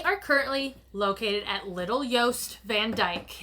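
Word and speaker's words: Jost Van Dyke: currently located at little yoast Van Dyke it's the smaller island of obviously Big yoast Van Dyke is it yoast yeah I don't think it's called Big yose I think it's just yoast whatever I can't pronounce it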